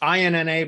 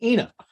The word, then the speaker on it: Ina: my call with ina it's inna but i had to ask her like how to pronounce it because i was you know my ignorant american ass i was like is it aina inna she's like it's ina anyway had a great